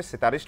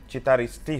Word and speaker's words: Citaristi: challenging bahut samay re sitarist boli samasta uchcharan karanti ame to anurodh karibu ki actually more bhi se mistake heitla citaristi hochi tankar perfect pronunciation so ame